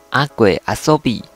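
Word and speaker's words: 阿鬼遊: 那个其实念作阿鬼阿索比，阿索比就是玩游戏玩的意思，对，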